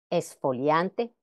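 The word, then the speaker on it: exfoliante: Pero en España, aunque la pronunciación culta enfática coincide con la americana, la pronunciación más generalizada es. Exponer, esfoliante. Recordemos que la grafía, vamos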